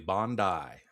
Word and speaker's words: Bondi: of Sandy Hook, there's the shooting at uh Bondi Beach. You pronounced it correctly. Bondi. Thank you. Thank you. It took me hours to get it down, but yeah, Bondi Beach.